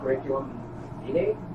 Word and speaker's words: curriculum vitae: There's also something called a CV, which is a curriculum vitae. Is that how you pronounce it?